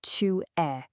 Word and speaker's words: tu es: it casual, you'll use tu es. This is your informal you are. And pay attention to the pronunciation here. Tu es. That S at the end, totally silent.